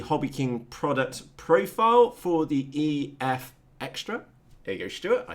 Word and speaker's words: EFXtra: We will also be looking at the HobbyKing product profile for the EFXtra.